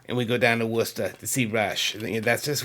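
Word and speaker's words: Worcester: My concert ticket Wora Mass wor of course it's spelled Warchester, right? But anyone in the know and of course up there in Massachusetts where I lived it was wor cuz that's how we say things up there.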